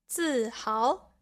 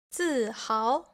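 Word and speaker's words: 自豪: 自豪, 自豪. Here, the second character has the second tone.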